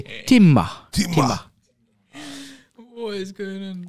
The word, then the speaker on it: Timah: How do you pronounce it? Timah. But you have to say Timah.